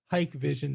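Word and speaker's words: Hikvision: Actually, their website states it's pronounced Hike Vision.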